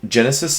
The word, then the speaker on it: Genesis: this little presentation so Genesis is a very interesting word you'll notice uh the first syllable is Jen and uh this word